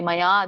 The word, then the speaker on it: ಮಯಾ: ಅದ್ಯ ಮಯಾ ಲಬ್ದಂ ನೋಡಿ ಮಯಾ ದೀರ್ಘ ಇದೆ ಯ ಆ ಸ್ವರ ಕೂಡಿದೆ ಮಯಾ ಲಬ್ದಂ ಅಲ್ಲಿ ಬ